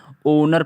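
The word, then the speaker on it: honour: इसको ओनर है ना ओनर पढ़ रहे है होनर नहीं पढ़ रहे इसे हम ओनर पढ़ रहे हैं होनर छोड़ के हम इसको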